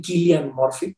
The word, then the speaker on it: Cillian: Protagonizada por Cillian Murphy, o más bien Killian Murphy, porque creo que así se pronuncia de manera sajona.